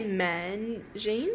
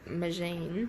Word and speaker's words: Magene: you pronounce that natasha did you say man jean is it yeah what is manche it's not a man jean it's a machine machine so it's a dual